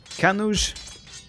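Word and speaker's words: Kannauj: Kanuj. Oh, wait. Oh. Someone said it rhymes with... Was it judge?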